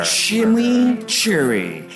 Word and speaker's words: chimichurri: Chimichurri. That's how you pronounce it.